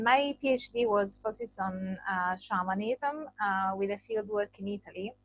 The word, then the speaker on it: shamanism: going to be on shamanism and yes I'm pronouncing it shamanism because normally scholars say shaman and shamanism rather than Shaymin or shamanism because shamanism with this pronunciation is